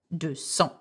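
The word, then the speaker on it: deux cents: we would say do-seong now so has an S when it's on its own okay when it's not followed by a number such as do some cajon so he had losses the s because there is a number after that so do some cajon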